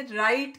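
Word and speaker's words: write: नस में लिखता हूं अब आप देखिए राइट के स्पेलिंग में पर गौर करें और राइट में हम डब्लू तो लिखा हुआ लेकिन इसको बोलते नहीं है जब हम प्रोसेस करते हैं तो इसमें राइट जो है वह साइलेंट लैटर है है नेक्स्ट सेंटेंस विथ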